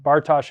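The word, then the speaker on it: Bartosch: to make sure you know Bart Bartosh Institute Bartosh is spelled b-a-r-t-o-s-c-h I think I got that right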